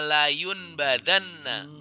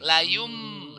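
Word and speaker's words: lam yunbadzanna: Bacanya bukan kalla layun badanna, bukan layun badanna, tapi layum dimasuk lagi. Nunnya udah jadi mim ya.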